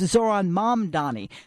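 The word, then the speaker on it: Zohran Mamdani: news anchors, politicians, and public figures most frequently pronounced wrong this year. The new mayor of New York, it's Zoron Mam Donnie.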